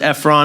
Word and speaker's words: Ephron: requests for whatever reason this guy Ephron or you can pronounce it Efron if you're a High School Musical fan but um that's so